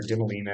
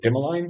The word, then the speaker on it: Dimaline: Why Dimmolene, I keep calling her Dimolina and then I listened to an interview with her and she pronounces it dimmaline.